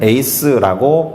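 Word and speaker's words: εἰς: 하나는 제가 그냥 알파벳으로 적어놨는데 에크라고 발음하는 것이고, 또 다른 하나는 에이스라고 발음하는 거예요.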